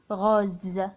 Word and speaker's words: rose: grosse mais une rose une rose on a prononcé aide pourquoi même si on a la lettre e s mais on a dit rose z parce que on as entre deux voyelles haut et à eux